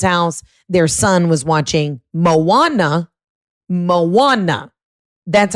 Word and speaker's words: Moana: Their son was watching Moana. That's how you pronounce it.